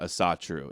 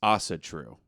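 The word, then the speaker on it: Ásatrú: It's not Asatru. It's Asatru.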